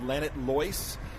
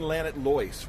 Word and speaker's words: Llanidloes: This is a town called Llanidloes. I think that's how it's pronounced in Welsh.